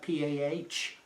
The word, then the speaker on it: Pahrump: Firearms Training Institute in Pahrump, Nevada, and I'll spell that P-A-H-R-U-M-P, Pahrump, Nevada.